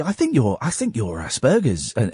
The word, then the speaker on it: Asperger's: say, I think you're Asperger's, and I thought it was a hard G, not a soft G.